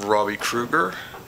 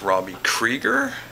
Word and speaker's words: Krieger: I probably called him Robbie Kruger, and that's probably Freddie. He's Robbie Krieger. And I've probably butchered the zine thing.